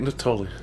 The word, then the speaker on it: Nittoli: Nittoli. Nittoli. Sounds like it should be a K at the beginning of Nittoli. The K is silent.